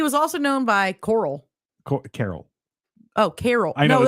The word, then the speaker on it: Coral: Carol. Oh, Carol. I know. No, this says Coral. No, but it is. They called him Carol. That is spelled Coral.